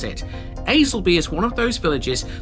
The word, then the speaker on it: Aslackby: Y Y Y Y which you might think is ALACb. It's not ALB. We speak a funny old language out here in Lincolnshire. This is Aelby and Lorton.